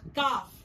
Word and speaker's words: calf: For example, the word calf, where L remains silent and the sound of F is prominent.